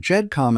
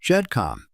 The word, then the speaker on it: GEDCOM: Earlier, I mispronounced GEDcom and GEDmatch. Both should be pronounced with a soft J sound, and I appreciate your understanding.